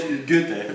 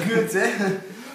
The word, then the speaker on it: Goethe: It's called Goethe. Goethe. The pronunciation is difficult.